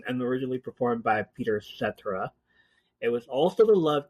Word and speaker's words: Cetera: sometimes performed by Peter Cetera when he was in the band Chicago. Cetera. It's pronounced Cetera. I'm used to et cetera, okay?